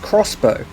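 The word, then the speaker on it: X-Bow: KTM Expo though apparently to their website it's pronounced crossbow have I been getting it wrong since 2008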